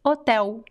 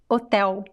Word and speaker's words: hotel: question about pronunciation elia the l uh it is not silent but it sounds like a weak ooh so sometimes it could sound like silent but actually for example the word hotel in portuguese hotel hotel so it's not silent but it sounds like a weak uh sound at the end and when we speak